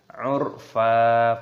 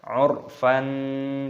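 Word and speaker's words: عرفا: Cara membacanya yaitu 'urfa, bukan dibaca 'urfan, tidak seperti itu. Salah kalau kita membacanya wal mursalati 'urfan, tidak seperti itu, tapi wal mursalati 'urfa, wal mursalati 'urfa.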